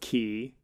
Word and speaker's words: quay: I think it's pronounced key, and it always bothers me because it's spelled quay. Okay, got it. Well, you know what? Now we're derailed, and I need to find quay. Yeah, it is pronounced key, and is a concrete,